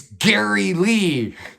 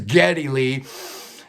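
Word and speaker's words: Geddy Lee: five it's gary lee well actually it's getty lee but uh his birth name was gary uh his yiddish mom uh had difficulty pronouncing gary so it always came about getty so it caught on both of geddy's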